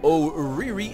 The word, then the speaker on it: ORRY: is going to be Ori or how he pronounces it is oh Riri and he's going to